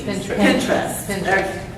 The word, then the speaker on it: Pinterest: say it I'm thinking they don't pronounce it says Pinterest like you say interesting I don't say interest you say interest okay got it now I